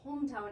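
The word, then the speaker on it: Holmtown: their pencils out because you spell it for us h o l m Town see very easy but you know you say it really fast it sounds like Hometown which is really the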